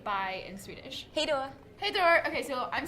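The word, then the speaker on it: hej då: like how do you say bye in Swedish hey Dora hey Dora okay so I'm this is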